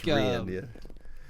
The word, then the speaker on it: Reyen: It's Reyen, but I've heard it pronounced a million different ways. So I'm used to it's Reyen, in Spanish, the king is Rey, like R-E-Y.